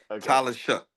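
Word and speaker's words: Shough: It's pronounced Shuck. You know that, right? It's Shuck. Tyler Shuck.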